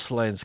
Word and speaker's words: Slains: The quiet nomad says it's slains and oi says slains as it's slain. Oh, thanks. With a short a like lane but with an s at the end and castle.